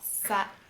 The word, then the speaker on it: ça: And in French, C sometimes take this little thing under it, like in French it's called a cédille, and this makes the sound S instead of the sound K. So here you have the cédille under the C, so comment ça va and not ça va, if that makes sense.